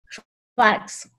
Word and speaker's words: Schwarcz: ¿Así se pronuncia? ¿Schwarz? Schwarz.